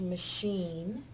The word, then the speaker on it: machine: It's not ch anymore. It changes to the SH sound. That is machine.